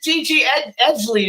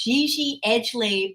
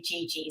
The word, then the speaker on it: Gigi Edgley: So everybody, this is Gigi Edgley is how we pronounce it, right? Yes, that's it. It's Gigi Edgley, but in America, everyone pretty much calls me Gigi. So I'll take it.